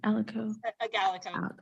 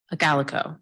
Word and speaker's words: Agalico: Alago, I think, am I saying it right? Alago? Agalico. There we go.